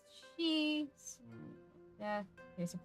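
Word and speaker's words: 四: And on the search for ghosts, number 4 is pronounced she.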